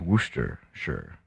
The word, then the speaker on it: Worcestershire: talk about worcestershire sauce because it looks like worchestershire like worcestershire is somehow pronounced wooster sure it's like it's like